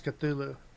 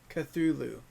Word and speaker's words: Cthulhu: a chip du Loup at I think that's Cthulhu cut through Lu sorry I pronounce there uncle you spell it see th